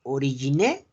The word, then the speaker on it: origine: Se escribe origine, pero no se pronuncia la E.